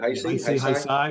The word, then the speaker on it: Heisei: Heisei, yeah, Heisei.